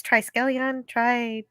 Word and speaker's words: Triskelion: Triskelion. It's not hard. There's lots of tries. Triskelion, there's 3 suns.